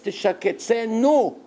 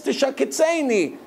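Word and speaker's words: תשקצנו: Shaketz teshaketzenu. Which means, with the Dagesh in the end, hate the Avodah Zarah. But now the Hasidim say, Shaketz teshaketzeini. It's like Hashem saying, make me despicable.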